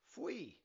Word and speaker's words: Faoi: The first word is Athbhliain, pronounced "ah" and "vleen" - "ah-vleen" The second word is Faoi, pronounced "fwee" The third word is